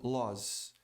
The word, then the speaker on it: laws: Aqui tem som de Z, laws. Eu não vou dar regra aqui, não dá tempo.